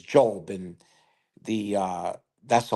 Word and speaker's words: Diop: Some of you pronounce it diop, but the dio p makes is job.